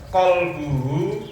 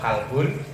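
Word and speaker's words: قلب: Wa idza dhaqa dan ketika ruwet qalbuhu hatinya. Qalbun hati, kalau kalbun, nah makanya bacanya qalbu.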